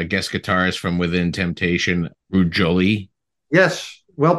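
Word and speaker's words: Ruud Jolie: where you have guest guitars From Within Temptation rude Jolie yes well pronounced as well that's good uh it's funny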